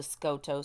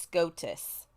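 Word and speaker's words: Skotos: her lessons uh so she pronounces this um this place in the book called The scoto Mountain Mountains and the Priestess corrects her and says it's pronounced scotus and she was like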